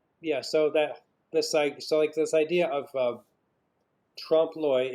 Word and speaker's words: trompe-l'oeil: Yeah, so this idea of trompe-l'oeil, it's spelled T-R-O-M-P.